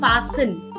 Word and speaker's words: fasten: It's called fasten. Fastening, unfastening. all I'll right, just I'll just give you the spelling in the chat box. mm. Fasten, unfasten, and the T is silent.